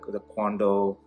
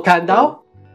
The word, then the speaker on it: Kandao: If you just see, you know, if you just go to the Quando website, I don't know how you pronounce it, but that's which site pronounce it. The Quando. Oh, Kandao.